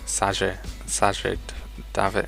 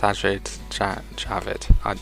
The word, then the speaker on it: Sajid Javid: Because although it didn't happen with this, they got Sajid David. Is that how you say it? 1 second. Yes, Sajid Javid.